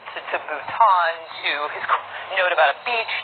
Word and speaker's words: Bhutan: thinking that Nepal and Bhutan which incidentally he also mispronounced as nipple and button or part of India